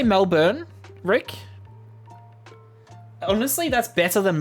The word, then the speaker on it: Melbourne: that a British person would say Melbourne correctly Melbourne Melbourne that's how you meant to say it one